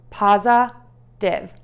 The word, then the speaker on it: positive: I sound and then end with a V. This sound is made by gently biting your lip and the air is going to move out of your mouth. Mistake I hear a lot is that people close their lips and close their mouth and then it sounds more like a B sound.